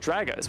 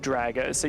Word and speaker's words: Dragos: player himself dragos himself he said draggers which is like what i would have assumed and that makes sense right because he's he's now changed to fraggers which rhymes with drago so you think it's that